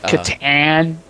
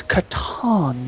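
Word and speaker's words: Catan: fun uh the teacher wait Katan yes settlers it's Katon you I don't give a you can pronounce it how you want I don't give a damn I pronounce it correctly sure fine whatever your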